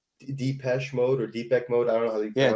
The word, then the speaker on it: Depeche Mode: he tells him like, oh, like you'd like Depeche Mode or Deepak Mode. I don't know how you pronounce Depeche that.